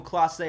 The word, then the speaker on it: Clase: I guess it's Emmanuel Clase.